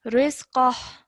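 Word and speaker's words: رزقا: Yes, so this inverted dhamma would turn into a sukoon. So this would be rizqah.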